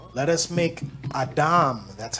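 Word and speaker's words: אדם: Adam. Let us make Adam. That's how it's pronounced.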